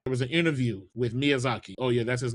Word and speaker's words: Miyazaki: When Elder Ring was coming out, there was an interview with Miyazaki. Oh yeah, that's his name, by the way. That's how you pronounce.